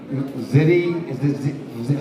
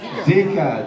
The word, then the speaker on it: Zika: We were all running around trying to avoid the, what is it, the little ziti? How do you pronounce that mosquito? That's Zika, the Zika mosquito.